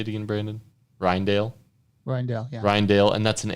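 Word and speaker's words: Rijndael: dale how do you say it again brandon ryandale ryan ryandale and that's an aes algorithm right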